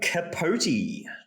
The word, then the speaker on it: Capote: Capote, not pronounced Capote.